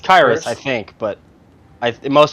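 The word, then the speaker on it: Khyiris: And he goes and I've heard him respond to it's Kyus. That's according to the Chiefs depths chart pronunciation guide. Kyus Tonga.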